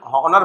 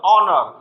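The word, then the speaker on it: honour: बहुत सारे बच्चे हिंदी मीडियम में हॉनर बोल भी देते हैं, लेकिन इसमें एच साइलेंट होता है, स्टार्ट ओ से होता है, ऑनर, ऑनर।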